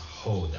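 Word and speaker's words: roda: It's R-O-D-A, but it's pronounced Holda. R-O-D-A. Right. R is pronounced ha in Portuguese.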